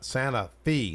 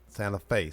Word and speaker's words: Santa Fe: He was from Santa Fe, not Santa Fe. Santa Fe. That's right. Santa Fe. Yes, that's right. He always told me make sure I pronounce it right.